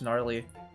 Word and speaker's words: gnarly: Just gnarly. Silent G.